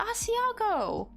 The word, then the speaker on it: Asiago: I just found out it's actually called Asiago. He's like, do what now? So yeah, thankfully they call it Asiago now, but it was hilarious the day they found out they were saying it wrong.